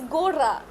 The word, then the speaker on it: gorra: It's a very It's a very difficult word and it's not a difficult word, but it's one word which has you focusing a lot on your r's.